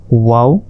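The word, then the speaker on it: واو: এরপর ওয়াও, ওয়াওটা 4 আলিফ, ওয়াও। মুখের খালি জায়গা হতে ওয়াও উচ্চারিত হয়, ওয়াও, ওয়াও। ঠোঁটটা গোল করবেন, গোল করে ওয়াও এইভাবে উচ্চারণ করতে হবে।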